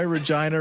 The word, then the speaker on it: Regina: your show prove why Regina rhymes with fun oh for [ __